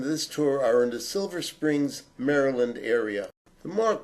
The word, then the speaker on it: Silver Spring: tour are in the Silver Springs Maryland area mark correct pronunciation is in the singular silver spring and it has a